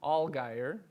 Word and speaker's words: Allgaier: My father, growing up, used to always say, it's simple, it just rhymes with bald tire.